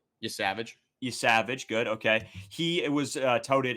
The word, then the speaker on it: Yesavage: Yesavage, good, okay.